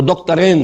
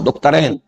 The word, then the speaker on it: دکترین: ابھی نام لوں گا، وہ دکترین ہیں، میں عربی تلفظ استعمال کر رہا ہوں، دکترین، دو ڈاکٹرز ہیں، لیکن یہ کہ وہ فکر جدید کے حوالے سے کرنے کا کام کیا ہے؟